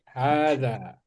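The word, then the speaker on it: هذا: Itu H-nya harus dua, harus panjang, Danya juga harus panjang. Makanya di situ habis H dikasih alif ya kan? Alif kecil. Alif kecil itu alif kecil itu artinya H-nya itu harus dibaca panjang.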